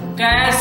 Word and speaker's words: cache: तो जान लीजिए इसका प्रोनाउंसिएशन कैचे नहीं होता है, बल्कि क्या होता है? कैश होता है।